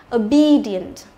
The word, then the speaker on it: obedient: Đấy, thì e cộng với cả ie, đúng không? Thì e cũng đọc là i dài. Obedient. Từ này là tedious này